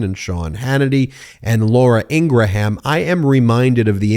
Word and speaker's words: Ingraham: Curtis ingraham's analysis is and yes it is Ingraham in the interview Curtis Ingram said no our last name is pronounced Ingraham for all those people who say it's Ingram no it's actually Ingraham and in this interview